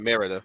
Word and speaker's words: Merida: redhead from brave yeah you said it right merida yeah yeah yeah a lot of move was